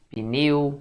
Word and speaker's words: pneu: Olha, o pneu é monossílabo? Sim, pessoal, você não pode separar assim, né? Pneu. Tá doido? Não existe sílaba sem vogal, então o P não pode ficar sozinho na sílaba.